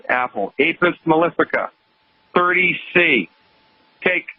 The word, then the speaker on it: Apis mellifica: Foods and pick up a homeopathic medicine called Apis mellifica. You spell that A like apple, P like Peter, I like India, S like Sam.